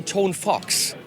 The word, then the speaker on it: Tonfuchs: is a fox so if you're saying it wrong say tone Fox but not because because